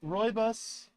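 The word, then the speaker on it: rooibos: which is a if I remember right it's pronounced roybus and this is a Sebastian morning Earl Gray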